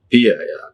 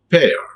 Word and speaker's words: pair: heard many times okay when people are pronouncing this particular word pia it's not paid it's a pair pair so we have to use this diphthong in well manner pair pair chei are